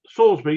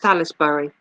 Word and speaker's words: Salisbury: Salisbury.